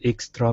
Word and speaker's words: extra: They were so big that the customers almost always had extra pizza. Okay, very good. Let's go to the TR here. So instead of extra, okay, rolling that R, give me a CHR.